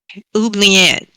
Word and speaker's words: oubliette: Oubliette.